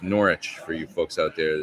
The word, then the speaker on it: Norwich: yeah yeah brilliant Norwich gig last night it's pronounced norch for you folks out there that aren't here get in trouble if you say Norwich hey thank you so much Mike it was